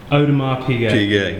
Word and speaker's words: Audemars Piguet: on Mars PJ very good but you don't pronounce the S on the others Odom an Audemars Piguet yes tell us more about it it's the